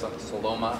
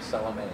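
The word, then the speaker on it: Salomaa: That's Saloma. I've been pronouncing her name Salome. You know, Sonia Salome. She's very, very recognizable face. And just difficult to say name. Yes, I thought it was Salome.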